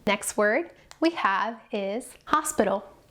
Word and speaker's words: hospital: Next word we have is hospital, hospital. Notice that the H is silent.